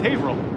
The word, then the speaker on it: Haverhill: That's how it's pronounced. It's Haverhill.